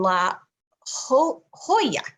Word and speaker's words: La Jolla: And he provides hypnosis, also counseling services at Center Point Medicine in La Jolla.